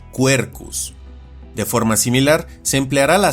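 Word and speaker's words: Quercus: en este ejemplo, donde este género se pronuncia y castellaniza como cuercus.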